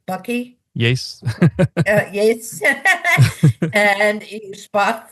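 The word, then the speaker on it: bakkie: Bucky?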